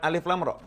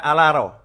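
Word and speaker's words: الر: tidak tahu baca Al-Quran, maka membacanya bukan alif, lam, ro. Membacanya seperti orang membaca dalam bahasa Arab. Akan dibaca alaro.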